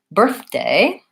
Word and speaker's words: birthday: It has first syllable stress, so birth is long and day is short.